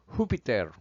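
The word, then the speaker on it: Júpiter: So Spanish Bibles render the dios of Acts 14:13 as Jupiter or as they pronounce it hupiter.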